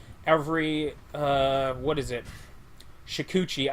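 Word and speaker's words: Shukuchi: this the ability to secuchi every uh what is it shikuchi i should say it right i say i i don't say the first h i apologize about that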